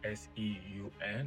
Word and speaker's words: Seun: Uh my name is Seun, spelled S E U N. There's different pronunciations to it, but I choose to go with Seun.